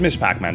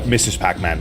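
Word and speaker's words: Ms. Pac-Man: I never played Miss Pac-Man back in the day, but I do know of it. Or Mrs. Pac-Man, I should say. That's the correct pronunciation. Because she be married, yo.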